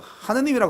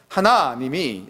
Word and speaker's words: 하나님: 하나님을 아 섬기고 있습니다 이거 발음 치느라고 제가 노력을하고 하고 또 하고 하는데 안 요 잘 빨리 하다 보면 하느님이 이렇게 되거든요 아이 문제예요 이게 그래서 하나님이 이렇게 이제 제가 아